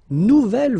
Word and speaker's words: nouvelle: This is the feminine version, so it goes like double L-E. Okay, phonetically, it is the same, but you write it differently.